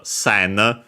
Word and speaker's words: 千: us in Japanese because, as we have seen, it's pronounced sen.